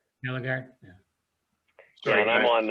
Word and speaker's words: Eligard: Eligard. Eligard.